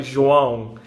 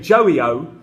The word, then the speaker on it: João: But the ão noise was really difficult for me, so I needed to practice. Eventually now, instead of saying João, I say João.